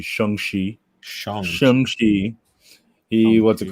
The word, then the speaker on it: Shang-Chi: From what I know, comic book wise, is Shang-Chi. Oh, I'm saying it wrong. It's supposed to be Shang-Chi.